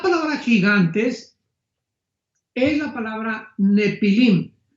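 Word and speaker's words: Nephilim: La palabra gigantes es la palabra nepilim n de Nancy y pH intermedia. Nepilim se pronuncia nefilim en el original hebreo.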